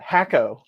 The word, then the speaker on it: Hakko: that even better they're they're pronouncing it for me in the chat hakko i like that name okay i i i can't argue with hakko that is what we will call it now sounds good sounds